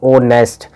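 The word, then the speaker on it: honest: Correct article, यहाँ पर H silent होता है, ओ की आवाज आएगी, ओ नेस्ट, तो ओ क्या है, वोवल, तो वोवल के साथ क्या लगता है, एन लगता है।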